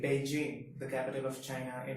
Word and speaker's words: Beijing: we pronounce it as Beijing. But if you consider Chinese in Mandarin, B is pronounced as Pa and J is pronounced as Ch. So it becomes Beijing.